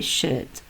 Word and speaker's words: should: I should, we should, you should, they should, he should, she should, it should. I don't pronounce the L sound.